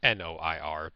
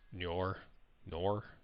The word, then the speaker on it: noir: It's n o i r nor. Is that how you pronounce that? N o i r. Is that nor Okay. Noir. Yeah. Okay. Yeah. Yeah. Yeah. It's Noir. Yeah.